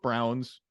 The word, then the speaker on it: Braun: I know it's pronounced Brown, but it's Braun to me because that's how it's spelled.